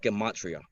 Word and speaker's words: Gematria: Is it Gematria or Gematria? I always butcher that. Yeah, like there's several pronunciations, but I call it Gematria.